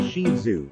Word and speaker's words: Shih Tzu: The Shih Tzu, pronounced Shih Tzu, is one of the most popular dog breeds in the United States.